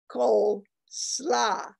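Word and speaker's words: koolsla: such as coleslaw or coal slaw which is the way it's pronounced in dutch gold means cabbage slaw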